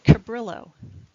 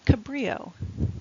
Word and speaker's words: Cabrillo: be very complicated so example this word an English pronunciation would be Cabrillo however this is pronounced Cabrillo because it is pronounced the way a Spanish word would be pronounced and it's to honor